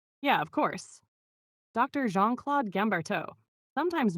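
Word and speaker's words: Guimberteau: Jeanclaude Gamarto? Yeah, of course. Dr. Jeanclaude Gamarto, sometimes mispronounced as Gambartel, is a French plastic and hand surgeon who did groundbreaking work on fascia.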